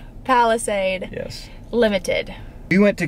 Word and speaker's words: Palisade: don't even know how to say it monday palestine palisade yes limited we went to kiara hyundai tamron